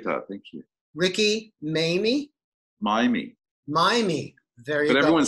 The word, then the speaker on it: Maymi: me i appreciate that thank you ricky mamie miami miami very but everyone says mamie so it's cool but i want to i want to pronounce it correctly so miami thank you that's great tell me what are